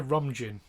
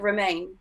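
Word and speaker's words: Romijn: about someone else's rebecca ramjin yeah i think you say it like romaine oh do you oh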